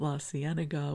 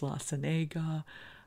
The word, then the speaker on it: La Cienega: I thought La Cienega was La Cienega.